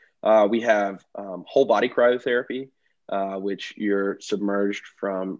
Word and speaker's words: cryotherapy: i even mispronounced it it's chiral is it chirotherapy or cryotherapy cryo cryotherapy might be able to alleviate